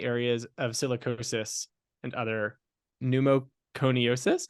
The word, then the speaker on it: pneumoconiosis: Her clinical interests include occupational lung imaging, specifically in the areas of silicosis and other pneumoconiosis. How do you say it? Perfect. Pneumoconiosis.